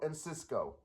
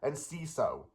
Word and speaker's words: Enciso: and that's honestly Julio and Cisco. You know, I'm probably saying his name wrong, so I'll try to say it again. Julio and Ciso, not in Cisco, cuz that's swapping letters around.